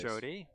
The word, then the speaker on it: Jode: 2 sub 10 singles by Jode Brewster. Sorry, Jode. I should say Jode. He always says it's pronounced Jody, but I know he means Jode. Yep. Jode Good Brewster. old Jode. It rhymes with toad.